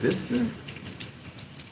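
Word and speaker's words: Bicester: So I So I see on u bis is it just pronounced bister?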